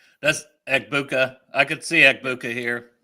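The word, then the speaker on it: Egbuka: How do you pronounce his name? That's Ebuka.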